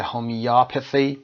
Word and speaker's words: homeopathy: هومیوپاثی که استرس روی او قرار میگیره و آ تلفظ میشه هومیوپاثی که علاج به مثل هست، توضیحش هم که دارید میبینید این قسمت.